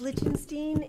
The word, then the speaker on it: Lichtenstein: Did I butcher the name too badly? It's Lichtenstein, and